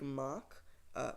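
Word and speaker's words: Mack: It is, of course, a German manufacturer.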